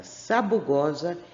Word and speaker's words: sabugosa: Primeiro S, o som é sa. O segundo S, za. Então, aqui. Assinale com um X a sílaba da palavra sabugosa em que a letra S tem o som de Z.